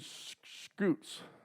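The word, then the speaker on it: scutes: very common fossil that we find are skin scoots s-c-u-t-e-s i believe is what it's how it's spelled and these are from from my understanding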